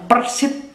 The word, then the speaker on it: Persid: Ada di Jawa Timur namanya Persit, tapi pakai D, PERSID, Persit.